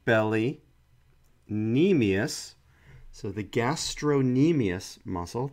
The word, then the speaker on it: gastrocnemius: knee meais so the gastro knee meais muscle the C is silent is the belly of